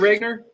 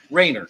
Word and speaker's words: Wagner: good afternoon sir Mr Wagner yes sir is that how you pronounce your last name Ranger Rainer okay the g is silent gotcha yes well Mr